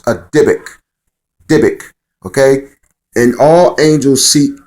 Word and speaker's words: dybbuk: uh in hebrew you have what's called a dybbuk okay it's spelled d-y-b-u-k-k all right pronounce a dybbuk okay and all angels seek to uh incarnate